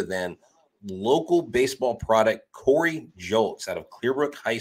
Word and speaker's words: Julks: It's spelled like it sounds, Julks.